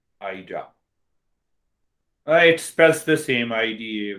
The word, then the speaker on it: Ida: first part i will have you heard of eda hurricane thank you for correcting my pronunciation ida i express the same idea whether you say